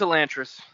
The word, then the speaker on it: Elantris: Also, even the title is uh apparently it's technically pronounced Elantress. Oh no, no. What? No, it's it's a Lantress.